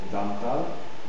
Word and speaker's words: dentale: C'est une consonne orale, occlusive, dentale et sonore. Voilà, très bien. Orale, occlusive, dentale, sonore. Bien. Et T de terminé. C'est une consonne orale, occlusive, dentale et sourde. Dentale. Vous dites dental. Vous prononcez N.